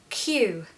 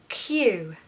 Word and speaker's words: queue: difficult than the pronunciation the pronunciation is simply the letter Q okay guys Hue in